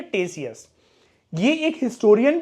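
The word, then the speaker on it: Ctesias: है इंडि ऑफ टेसिस यहां पर जो के वर्ड है वोह साइलेंट है इसकी प्रोनंसिएशन होती है टेसिस यह एक हिस्टोरियन भी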